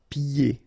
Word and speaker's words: pieds: Pieds. Okay, so you don't hear the D.